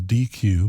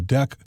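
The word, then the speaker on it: deque: container deck is pronounced deck it's not pronounced like it's spelled which is DQ because it's not a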